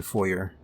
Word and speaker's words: foyer: For me, I always pronounce the R in foyer.